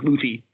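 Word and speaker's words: Lüthi: It's L-U with like the 2-dot accent above it, T-H-I, so like Luthi.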